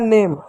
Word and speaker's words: name: अब देखो इस शब्द के अंत में ई आया तो ई साइलेंट होगा, ई को नहीं पढ़ेंगे। एन को न लिख दो, ए को ए की मात्रा लिख दो, एम को म लिख दो, हो गया नेम, ठीक है पर बच्चों ई साइलेंट होता है।